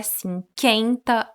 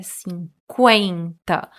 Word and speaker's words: cinquenta: Não é 50, é 50.